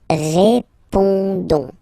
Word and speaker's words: répondons: Don't pronounce the final S. You only pronounce this on sound. So you get répondons. Nous répondons.